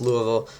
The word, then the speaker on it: Louisville: Jarvis Brownlee Jr., the Louisville, I think that's how you pronounce it. No, it's Louisville.